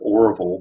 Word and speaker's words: Orville: Um, Arville Hicks, his his name is Orville, but we all pronounced it RV.